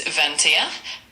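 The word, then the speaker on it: vingt et un: It's Vanta and it's spelled V I N G T E T T U N.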